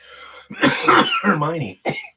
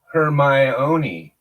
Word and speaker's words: Hermione: call her hurt me cuz I don't have pronounced and she can either Hermione my niece thank you so much her my oniy wait a minute now you're saying her my